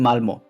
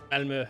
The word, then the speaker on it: Malmö: Oh yeah, the double point in the O makes it longer, right? Yeah, it's like the cross used to say U.